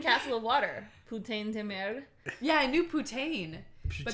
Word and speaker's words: merde: How do you pronounce M-E-R-D-E?